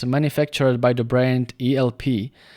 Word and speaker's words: ELP: manufactured by the brand elp which if i understand correctly in china they pronounce it alipu and i got this